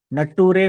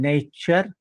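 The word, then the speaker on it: nature: nation station nation station T आर य असेल तर चर म्हणायचं नटूरे फटूरे म्हणायचं नेचर फ्युचर त्याच त्याचप्रमाणे ओ यू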